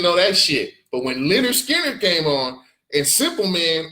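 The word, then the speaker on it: Lynyrd Skynyrd: Leonard Skinner, Oh, pronounced Leonard Skinner.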